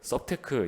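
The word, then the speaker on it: SupTech: 아주 그 이수 카시스 업힌 테크 레그 테크 썹 테크 이게 사실 그 인지 비대면 과자 동화 라는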